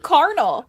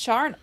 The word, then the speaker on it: charnel: I've always said carnal, like carnal urges, Oh, sure. but it's charnel.